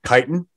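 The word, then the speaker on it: chitin: it's this exoskeleton that's made of kiten and the kiten takes a while kiten is spelled CH I tiin it takes a while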